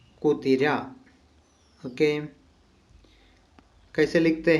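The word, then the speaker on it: കുതിര: ठीक है ना, तो इसका प्रोनाउंसिएशन है कु ती रा, कुतिरा, कुतिरा।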